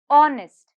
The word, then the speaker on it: honest: word is honest honest honest here if you see h is silent the next word knife